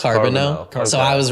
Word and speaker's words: Carboneau: little confused by it it's carbon now so I was right